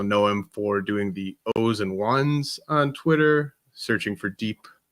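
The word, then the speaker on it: O's and 1s: I'm impressed you called it the O's and ones. A lot of people call it zeros and ones, but yeah, it's pronounced those and ones.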